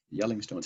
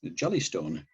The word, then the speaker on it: Jelling: And I do that, you know, that's Jelling, Yelling Stones. Having only read about them, I mistakenly pronounced it like the national park where Yogi the Bear stole picnic baskets, Jellystone, until a Viking archaeologist I was working with corrected me. He said, "They're Yelling Stones."